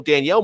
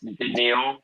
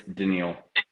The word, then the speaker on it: Danielle: people are gonna double Danielle more and then Anderson gets gets the the benefit but start talking it's denal not Daniel yeah it's denal okay well it's spelled like